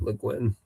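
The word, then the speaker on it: Le Guin: Leguin. Legin.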